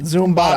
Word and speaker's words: Zumbado: That's how we pronounce it. Zumbado.